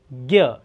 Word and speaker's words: ज्ञ: ज्ञ हिंदी में अगर सिखा रहे तो ज्ञ बोलेंगे, मराठी में द्न्य कहेंगे।